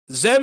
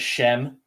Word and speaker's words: Xem: of the subjectively wrong a lot of the spanish speakers pronounce it shem uh i've got i've gotten the whole gambit of but it is zem yes right so simply